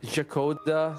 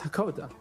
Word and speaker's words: Hakoda: Whereas like Jakoda kind of comes out wrong. Zakoda. I was like, nah, it's Hakoda.